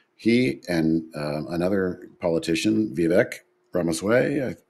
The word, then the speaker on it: Ramaswamy: Well, fast forward to now in our country, he and another politician, Vivek Ramaswamy, I pronounced his name correctly, are going to head up the Department of Government Efficiency.